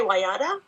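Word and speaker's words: Wallada: So, how did you come up with Walada? Is that how her name is pronounced? I say Wayada, but Wayada.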